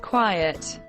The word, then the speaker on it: quiet: quiet of the country be careful about the pronunciation of quiet quiet and quite quite here are both in one sentence I want you to be quite quiet for five minutes obey obedient obedience